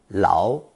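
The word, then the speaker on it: Lau: to write his name his English name is Andy Lao Lao being the Cantonese pronunciation of she's wanted to be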